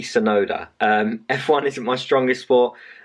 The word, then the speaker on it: Tsunoda: Yeah, that wasn't right at all. It's Tsunoda, so it's Yuki Tsunoda.